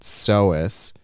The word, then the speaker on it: psoas: Doggy Bag said a lot of times the psoas muscle, which is pronounced psoas, refers to the back, especially for cyclists.